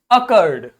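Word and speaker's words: accord: ओ को तो ओ ही बोलोगे, सी को ज्यादा से ज्यादा तुम सा बोल दोगे, असर्ड कह सकते हो, लेकिन असर्ड नहीं बोलेंगे, क्या बोलेंगे, अकर्ड, अकर्ड। ये बात तो मैंने प्रोनाउंसिएशन की पहली क्लास में आपको बता दी थी कि जब भी 2 बार कोई शब्द अंग्रेजी में लिखा होगा उसे बोलेंगे एक ही बार, तो क्या हो जाएगा, अकर्ड।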